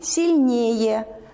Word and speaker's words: сильнее: Ударение переходит на суффикс «сильный» – «сильнее», «бледный» – «бледнее», «верный» – «вернее».